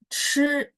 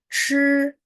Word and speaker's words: 吃: Nah, chi ini harus ada angin, terus lidahnya diangkat ya.